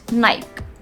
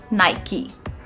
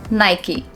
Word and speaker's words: Nike: That's how a lot of people pronounce it, right? They call it Nike. I like shoes from Nike, but in actual it is known as Nike. Nike. Not Nike. It's Nike.